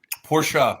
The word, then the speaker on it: Porsche: car dealership Porsche nice yeah porsa not Porsche everybody porsa right yeah I feel like when I say it people are like you sound like I'm like no that's literally how you say it how you say it